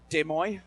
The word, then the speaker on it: Des Moines: streets in Des Moines Des Moines that's how you asked me to pronounce it I don't do mean